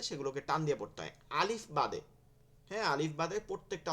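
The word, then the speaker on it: ألف: আলিফ আ আ leaf, কোনো টান হবে না কিন্তু আলিফের মধ্যে।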